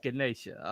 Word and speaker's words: Ganesha: I was like what I'm sorry I mispronounced it it's Ganesha okay all right know